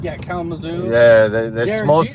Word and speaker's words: Kalamazoo: Or either to Lansing, or what do they call it, Kalamazoo, if I'm saying it right? Yeah, Kalamazoo.